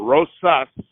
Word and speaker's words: Rosas: On November 2nd, Sergeant Rosas, not Rojas, right. but Rosas. Yeah, I keep saying Rojas.